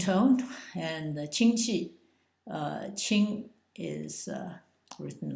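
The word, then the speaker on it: 亲: the uh second tone and the chi uh Ching is uh written like this and is pronounced Q like a CH hard CH ching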